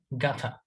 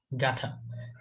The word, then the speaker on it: gotta: That is meaning, it means gotta, gotta, gotta, gotta. Like gotta বলে না, gotta, ড উচ্চারণ করে, ডি, ড উচ্চারণ, gotta, gotta.